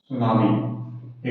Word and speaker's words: tsunami: सुनामी एक शब्द है, देखिएगा टी साइलेंट रहता है।